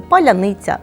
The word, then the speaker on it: паляниця: У російській мові цей звук завжди твердий, тож вони не можуть нормально вимовити паляниця, суниця, залізниця.